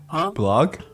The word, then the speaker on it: Bullog: Blog? Yeah. It's spelled Bullog. Blog.